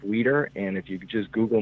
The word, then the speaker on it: Wieder: google my name wieder and it's wi e de are the eyes before the e and it's pronounced leader and if you just